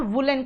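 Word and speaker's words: woollen: कुछ लोग उलन कहते हैं, कुछ लोग उडन कहते हैं। उसको आप वुडन और वुलन कहोगे क्योंकि आप अमेरिकन नहीं, आप ब्रिटिश हो, मतलब ब्रिटिश से सीखे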